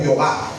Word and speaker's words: Jehová: de pronunciar sin embargo le colocaron unas vocales para que nosotros la pudiésemos pronunciar ejemplo Yahweh oh Jehová okay Bueno en el